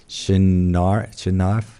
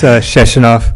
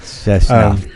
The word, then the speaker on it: Sheshinov: I'm going to butcher his name, Shinarf? Thank you. Sorry. No, I don't take it personally. Could you please pronounce it? Yeah, it's Sheshinov. Sheshinov, thank you.